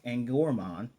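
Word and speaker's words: Angoramon: But Ruli, I love the fact she asked Angramon, saying his name. His name is Angramon. The O is silent.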